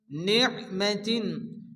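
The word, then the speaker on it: نِعْمَةٍ: গুণ করতে হবে মিন নিমাতিন আইন এখানে সাকিন আইনকে নুনের সাথে মিলিয়ে ভালো করে উচ্চারণ করতে হবে নিমাতিন তার নিচে দুইজন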